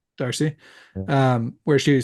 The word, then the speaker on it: Darcy: Emma Darcy. Darcy, Yeah.